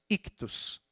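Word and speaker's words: ΙΧΘΥΣ: Peixe em grego é uma palavrinha que nós pronunciamos ictus.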